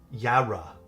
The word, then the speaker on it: Yarra: It's pronounced with a ya. Ya Ya Ya dude. I suck at pronouncing this keyboard name. I got to like really pronounce it afterwards. And then and lock it in. Ya Ya re Ya ra Ya ra.